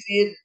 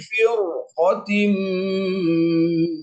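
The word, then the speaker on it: فرقة: Kalau dibaca min kulli fir nggak boleh. Kenapa? Karena itu di depannya huruf apa? Huruf isti'la. Huruf isti'la ya, qaf betul. Huruf qaf adalah huruf isti'la. Jadi dibacanya semestinya adalah min kulli firqatin minhum.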